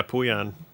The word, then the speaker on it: Pooyan: Oh, yeah, Puyan. Puyan is fun.